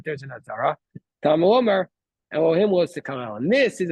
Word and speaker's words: Elohim: But first of all, we don't know what the word Elohim usually in the Torah means God. And then it would be pronounced as Elokim.